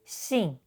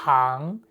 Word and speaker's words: 行: Besides, it has multiple pronunciations when used in compound words with different meanings. For example, it is pronounced 信 in 品性 and 行 in 行业.